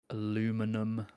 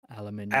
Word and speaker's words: aluminium: on that first syllable aluminum aluminium aluminium get the out of here grasping it's almost like we assume it ends with ium like literally every other element that ends with ium rubidium Larry fix